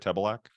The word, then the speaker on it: Tebelak: That's how you say it, Tebelak.